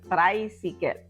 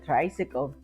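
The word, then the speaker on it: traysikel: you will write down the word so tricycle is spelled as t r a y s i k e l so you say tricycle okay tricycle now this mod of of transportation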